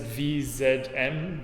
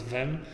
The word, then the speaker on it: vem: She said VZM, but apparently you pronounce it as vem.